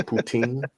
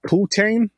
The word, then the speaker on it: poutine: Oh no, that's the English pronunciation of it. If you're doing the French one, it's poutine, but poutine.